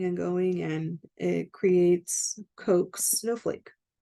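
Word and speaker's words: Koch: I'm not 100% sure that that's the correct pronunciation of Coke's, but I looked it up. I saw Coke a couple of times here, or I saw it pronounced as Coke a few times, more than the other ones.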